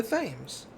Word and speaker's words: Thames: compass come to us see that guy called it the thames yeah so you're saying it correctly i am saying it correctly it's the thames let us not waste